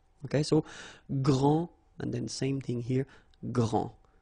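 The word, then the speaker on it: grande: you don't the day here and you don't pronounce the final s okay so gr and then same thing here gr and regarding the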